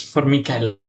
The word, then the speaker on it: Formichella: Yes, it's Formichella with a hard C. It's a bit hard because it's an Italian niche rule.